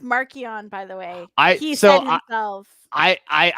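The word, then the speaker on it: Marchion: book right now oh that's true oh it's pronounced markian by the way i i i was a big marquian guy but now i kind of i do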